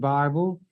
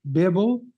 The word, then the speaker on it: Bible: I'm not mad at you because you mispronounce it Bible. And you're going to be mad at me because I pronounce it correctly, Bibble? Excuse me. I pronounce it Bibble.